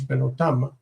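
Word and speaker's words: בְּנֹתָם: Okay, banot, daughters, banot, benotam. The first syllable becomes distant and reduces, benotam.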